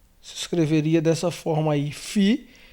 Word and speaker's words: Φ: Fi, ele é transliterado como um F, F de fel, de filho, de faca.